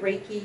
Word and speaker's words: Reiki: Am I saying the right Reiki? Yeah, that's how you say it.